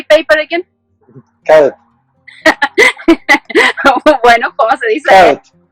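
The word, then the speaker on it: kağıt: Coat.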